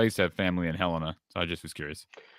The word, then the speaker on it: Helena: Okay, because I used to have family in Helena, so I just was curious. Oh yeah. And you pronounced it correctly. Most people say Helena, so I know you know your stuff.